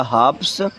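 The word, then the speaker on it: halves: जाएगा थीव्स और यहां हाफ का प्लूरल हो जाएगा हावस एल साइलेंट रहेगा है ना और सेल्फ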